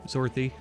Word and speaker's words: Zorthy: Zorthy, you're next. I always feel like I'm saying Dorothy when I say his name, Zorthy.